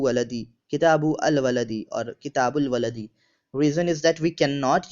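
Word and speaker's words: كِتَابُ الْوَلَدِ: So book of boy, Kitabu al Waladi, or we pronounce it as Kitabul Waladi.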